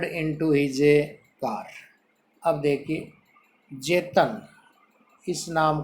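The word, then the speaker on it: Tsetan: अब देखिए, जेतन, इस नाम को अंडरलाइन कर लीजिए। इसकी स्पेलिंग टी से स्टार्ट है, बट ये टेस्टन नहीं है। इसका जो नाम है, जो प्रोनाउंस है, उच्चारण है, वो है जेतन।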